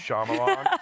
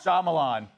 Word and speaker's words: Shyamalan: How do you say his last name? Shyamalan? I always screw that up. Shyamalan. Shyamalan. There you go.